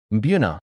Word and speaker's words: Mbuna: Mbuna, pronounced Mbuna, are a group of cichlids from Lake Malawi in eastern Africa.